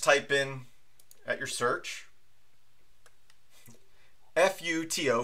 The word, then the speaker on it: FUTO: If you open up your browser and you just type in at your search, F-U-T-O, Futo, I guess is how you say it.